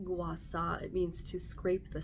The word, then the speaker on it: gua sha: the bruising or the shaw guasa is actually pronounced guasa it means to scrape the sand this is